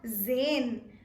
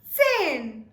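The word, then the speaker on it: zehn: Sin Sin now again the t is very very specific and important in this context it is very essential that you do emphasize on the tiny T so it becomes and not Zan Zan will be wrong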